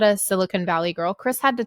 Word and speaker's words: silicon: Silicon Valley properly because I was saying it silicone. And he was like, no, girl, like you have to say it silicon. And I was like, okay, so now I can say it properly.